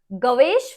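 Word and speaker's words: Gervase: इज a poem bye गवेश फिन यहां पे are silent है ठीक है जी ई ग वेश गवेश फिन ठीक है तो अब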